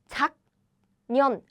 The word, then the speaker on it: 작년: However, in Korean, we don't read the letters syllable by syllable like this. 작년. We don't say it that way. But to make the pronunciation easier, we kind of connect the 받침 sound and next the consonant. We naturally connect them to pronounce it easily.